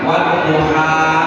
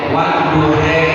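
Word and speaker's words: والضحى: Kayak model sering kita dengar wadduha dibaca dengan wadduhe. Itu qiraat samaan saja dan nggak masalah.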